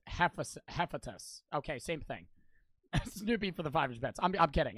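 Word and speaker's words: Hephaestus: tiptoe from Fringe that's hepatitis Joe he's the god of forging it's pronounced hephatus okay same thing I'm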